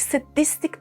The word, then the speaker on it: sadistic: And now a pronunciation hint. Pay attention. In sadism and sadist, we have this a sound. Sad sound. However, in sadistic and sadistically, we have s with a schwa sound. S. Sadistic. Sadistically.